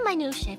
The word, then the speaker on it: minutiae: He'll gladly recount every minutiae for us. Minutia? Yeah, that's how you pronounce that.